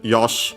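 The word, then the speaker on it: よし: uh Yosh uh with this C she technically often pronounced uh as Yosh because the uh e at the end is barely heard if at all uh preceded by an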